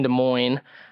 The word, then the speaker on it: Des Moines: Going into our storyline segment, Ricky kind of had a uncharacteristic finish last week, finishing in 18th in Des Moines.